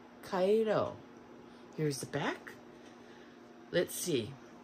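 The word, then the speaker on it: Kairo: kiriyoshi kurosawa film here is pulse and it's pronounced kaido kaido kaido here's the back let's see this was in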